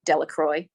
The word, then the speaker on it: Delacroix: Bobby and Harry Jones and Dickie Delacroix, the villagers pronounced this Delacroix, eventually made a great